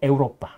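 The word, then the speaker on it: Europa: 유럽이라고 근데 유럽 영어식 발음이고요. 라틴어는 에우로파. 에우로파.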